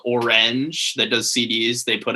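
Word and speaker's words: Oranj: that that's really cool orange it's spelled like the fall album uh orange so o-r-a-n-j um check out orange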